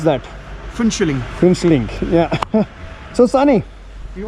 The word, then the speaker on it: Phuentsholing: Pronounce that. Finchling.